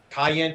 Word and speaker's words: cayenne: cayenne pepper.